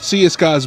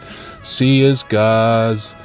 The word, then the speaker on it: Siyisgaaz: Z because I heard the old people used to say it with the way they speak. Siyisgaaz. They said it with a Z or Z, and everyone now says it Siyisgaaz. Siyisgaaz.